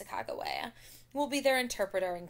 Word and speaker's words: Sacagawea: It was about 50 soldiers and woodsmen, and Sacagawea, you may know her as Sacagawea, but the correct pronunciation is Sacagawea, will be their interpreter and guide.